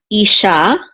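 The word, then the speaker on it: אִשָּׁה: it says e and then we have a shin with a kamats which is ah and the hey together Isha um so that means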